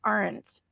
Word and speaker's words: aunt: Whether you say aunt or aunt. Yes. Oh, okay. And Kaz says down under, we pronounce it as aren't.